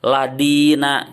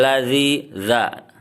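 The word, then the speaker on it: الذين: itu adalah sirotol ladzina ladina itu bukan dak tapi Za Za ya jadi bacanya sirotol ladzina Zahri lu sirotol ladzina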